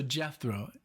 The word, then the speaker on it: Jethro: basically Alexis like just just think of death row death row like you know like jail death row so Jethro Jethro tell so that's the first